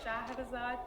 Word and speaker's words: Shahrazad: Yeah, it's Shahrazad, but Shahrazad you pronounce it very good.